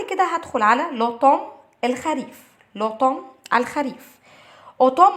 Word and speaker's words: automne: اوتوم AUTOMNE والان هنا مش بتتنطق.